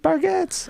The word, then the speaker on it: Bargatze: dad, Nate Bargatze. I'm like, now I know how to pronounce it.